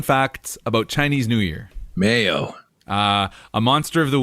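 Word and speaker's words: 没有: and no is pronounced mayo which i think sounds like mayo like mayo mayo yeah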